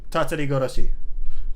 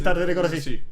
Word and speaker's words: Tatarigoroshi: Tatarigoroshi.